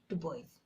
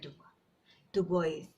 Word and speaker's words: Dubois: to tell you to say Dubois just then just blend it to the culture say to boy the boys not du du Bois you can access the